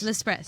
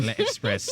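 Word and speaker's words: L'Express: toed it off with can you pronounce it let lepress very good lepress a French Bistro renowned for being open till 2: a.m. every night not lepress not Le Espress cuz you conate that apostrophe epr so we just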